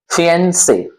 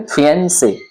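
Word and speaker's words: fiancé: Next word है FIANCE, फियंसे, क्या बोलेंगे? फियंसे, ये एक नाउन है, इट मीन संज्ञा है।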